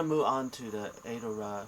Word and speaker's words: Arowra: So a the r a r o w a it's pronounced as adora and um it's a continent with five country